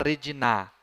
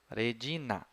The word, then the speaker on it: regina: Nunca vou falar Regina. Não. Regina. Vamos para a anterior.